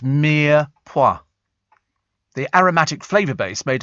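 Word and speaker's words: mirepoix: goodness for that there it is and uh pronounced Mia P the aromatic flavor base made of lightly cooking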